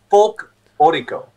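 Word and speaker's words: folklórico: Yeah, I think you've got me saying it wrong now. It's like folklorico.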